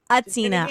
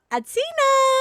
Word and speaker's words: H'Atina: y'all pronounce the h now just put the h in there but don't pronounce it okay okay what's up with my girl atina singer songwriter diva extraordinaire